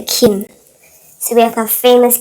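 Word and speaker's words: 김: And this is an M. Put it together, it's a Kim. So we have our famous Kim brothers. Kim Seok-jin, which we learned just now, Jin. Kim Tae-hyung. And Kim Nam-jun.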